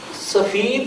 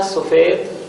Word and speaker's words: سفید: وہ جمع کے لیے۔ سفید یا سفید، دیکھیں لکھنے میں تو املا ایک جیسی ہے، ایک ہی لفظ ہے، لیکن تلفظ تھوڑا سا مختلف ہے۔ میں پہلے بھی گزشتہ کلاسز میں آپ کو بتا چکا ہوں کہ فارسی میں یائے معروف لکھی اور بولی جاتی ہے، جبکہ اردو میں یائے معروف کے ساتھ ساتھ